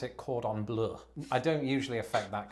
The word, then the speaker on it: cordon bleu: I pronounce it cordon bleu.